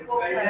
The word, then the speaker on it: Volkswagen: Yes, it is pronounced as Volkswagen. It is pronounced as Volkswagen. Why? This V is pronounced as F. Yes. This is because this is a company of Germany.